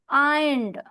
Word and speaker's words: ironed: एन जो है ना, इसमें आर साइलेंट हो जाएगा। आइंड, आइंड बोलेंगी, आइंड। ओके, आर नहीं बोलेंगे उसमें।